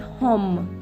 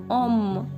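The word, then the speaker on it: homme: Now one more rule, that H is always silent in French. For example, you will not pronounce it hom. This is om.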